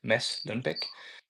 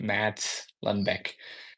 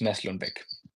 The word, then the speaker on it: Mads Lundbek: My name is Mads Lundbek. That's how it's pronounced. Otherwise, it would be pronounced in English, Mads Lundbek. But it is pronounced Mads Lundbek.